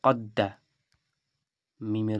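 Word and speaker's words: قَدَّمَ: কফ দাল জবর কি হলো? কদ। আবার দালের উপরে জবর দিলাম, কি হলো? কদ্দা। মিমের উপরে জবর দিলাম, কি হলো? কদ্দামা। তাহলে এটাও কদ্দামা উচ্চারণ, এটাও কদ্দামা উচ্চারণ।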